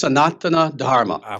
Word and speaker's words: Sanatana Dharma: may not know understand what is sanan um sanatana Dharma is that the correct pronounce Nation there close very close actually it's sonana Dharma Sana Dharma and and yeah the thing is